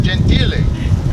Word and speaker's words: Gentile: award I said well my last name is pronounced genti mayor looked at me he goes stop no one's ever called you that stop the exact words